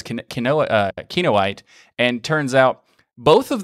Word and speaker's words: Kinoite: now for the show i asked him if it was canoa te and he said no it's kinoite and turns out both